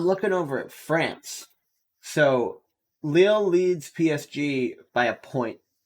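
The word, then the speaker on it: Lille: the other day that it is leo and not lily um yup oh interesting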